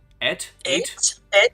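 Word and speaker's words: ætt: to fully retell, oh boy, how do you pronounce this word? AETT. You would know. Et?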